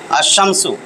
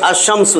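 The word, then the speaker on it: الشمس: যে আমি এই দেখেন যদি আস শামস লেখি লাম উচ্চারণ হইতেছে না কিন্তু আসমসু এই যে শামসু মানে সূর্য দেখেন সূর্যটা লিখছি আমি সূর্য টিম আলিফ লাম দিয়া তো টি টা টি নির্দিষ্ট আসমসু দেখেন এখানে লাম উচ্চারণ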